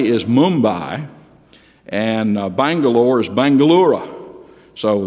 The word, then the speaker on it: Mumbai: name of these cities, they've changed the names of a lot of them back to the old Indian pronunciation. Like you've heard of Calcutta. Well, it's not Calcutta anymore, it's Kolkata. And Bombay is Mumbai, and Bangalore is Bangalore.